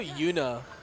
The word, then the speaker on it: Yuna: Also, Yuna rhymes with tuna.